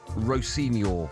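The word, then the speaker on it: Rosenior: Yeah, Chelsea have appointed Liam Rossini. That's not me taking the mickey, by the way. That's how you pronounce his name.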